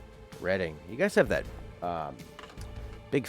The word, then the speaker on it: Reading: Always a hard word to pronounce for North Americans. Gloucester? Reading.